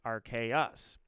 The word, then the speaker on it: Arceus: Latin pronounces it Deus, but after a while it started being accepted as Deus. Either way, it's Arceus.